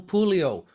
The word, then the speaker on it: Pulio: I'm going to move on to our final panelist, Pulio. Rhymes with Julio, down by the schoolyard.